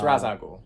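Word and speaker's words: Ra's al Ghul: and how you pronounce Raza ghoul it's razakul that's the correct pronunciation I don't care what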